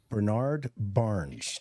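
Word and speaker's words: Brainard-Barnes: Heuermann is also the prime suspect in the death of Maureen Bernard Barnes. Did I pronounce that right, John?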